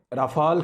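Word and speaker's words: Rafale: India में राफ़ाल का रोला पड़ा हुआ है। इसको दो तरह लोग प्रोनाउंस करते हैं, कुछ लोग इसको राफ़ेल कहते हैं, कुछ इसको राफ़ाल कहते हैं।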